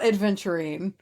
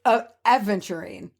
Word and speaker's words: aventurine: And so I've never said, okay, first of all, it's not adventurine. It's aventurine. Aventurine. There's no D.